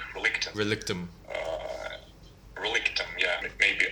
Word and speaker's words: Relictum: about the whole relictum is it pronounced as relictum or is it relic tomb well uh it depends on what language you are well you prefer to the english it will be like relictum uh yeah it may